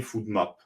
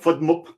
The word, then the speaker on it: FODMAP: fait la liaison effectivement au niveau de l'acronyme food map donc ce petit cette petite lettre permet de mieux prononcer le nom donc effectivement essaye de dire fmop c'éit peut-être pas facile quoi avec le a